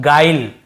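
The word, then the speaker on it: guile: के साथ आई तो हम उसे यू को नहीं पढ़ते देखिए इससे हम पढ़ रहे हैं गाइल है ना गु्विल या गुले ऐसे नहीं पढ़ रहे हैं इ को भी लास्ट में नहीं पढ़ते हैं केवल गाइल ऐसे पढ़ रहे हैं।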